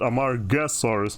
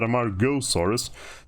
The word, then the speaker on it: Amargasaurus: But ultimately I do find it, and it's at this point that I realize that it's spelled Amargasaurus, not Amargosaurus, like I was talking in my first video, or like I was saying in my first video I should say.